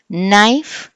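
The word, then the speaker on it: knife: Eighth rule, the letter K is silent when it is followed by the letter N. కే తర్వాత ఎన్ రాస్తే మనకి కే అనేది silent అయిపోతుంది. సో నో, నైఫ్, night, నీ.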